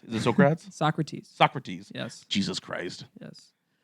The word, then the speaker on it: Socrates: in two different ways how do you say srats is it srats Socrates Socrates yes Jesus Christ yes